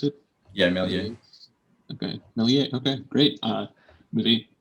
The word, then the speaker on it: Méliès: Is that how you pronounce it? Yeah, Méliès.